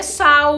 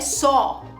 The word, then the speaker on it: só: She saw, cuidado com só, hein? Não é sal, não é sal, é só. Pronunciar, saw.